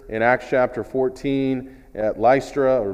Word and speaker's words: Lystra: another miracle here in Acts chapter 14 at lystra or lystra we pronounce it in verse number eight there was